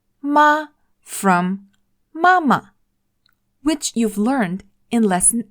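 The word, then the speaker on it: 吗: This word is ma. Ma. I know it looks similar to another character, ma, and they share exactly the same pronunciation. Ma from mama, which you've learned in lesson 8.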